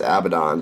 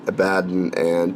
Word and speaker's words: Abaddon: abadan black on them I always thought it's pronounced Abaddon but Duncan says it a bad and Duncan knows literally everything